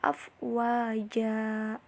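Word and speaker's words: أفواجا: Oke, coba perhatikan pada ayat kedua pada kata afwaja. Nah, itu setelah mad ada tanwin dan diwakofkan itu ya, karena itu ada di akhir ayat. Maka dibacanya itu bukan afwajan, tapi dibacanya adalah afwaja. Nah, dan begitu pun yang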